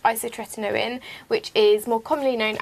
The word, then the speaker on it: isotretinoin: who then put me on a medicine called isotretinoin, which is more commonly known as Roaccutane. Well done. Yeah, I pronounced it right.